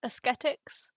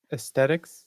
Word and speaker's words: ascetics: It's spelled Ascetics, and I think it's ascetics. And I like to pronounce it like that because it emphasizes the difference between that and aesthetics.